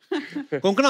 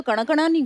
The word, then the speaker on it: कोंकणा: हमारे पर मुझे लगता है कोंकणा, आपको जब अलग अलग स्टेट के लोग मिलते हैं तो वो आपका नाम सही से प्रोनाउंस करते हैं। और आई एम श्योर अगर आपको कोई पंजाबी मिले वो हमेशा कंकना बोलेगा। कंकना, कोंकणा, क्यों साउथ में तो कणकणा भी बोले हैं।